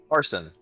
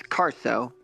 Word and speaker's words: Caro: you that's auspicious um Carson what Carson I think he's trying to say my name it's Caro oh right I know